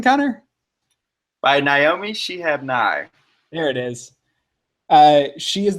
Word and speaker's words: Naomi Shihab Nye: By Naomi Shihab Nye.